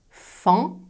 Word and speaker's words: faon: Et plus rarement, A plus O plus N ou A plus E plus N, comme dans le Fan ou la ville de Caen. Fan, Caen.